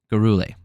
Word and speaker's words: Gurule: Gurule. That's how you pronounce that. I'm sticking to it.